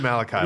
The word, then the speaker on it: Malachi: So are you in Malachi right now? Is that how you say it? No. We did Malachi last week.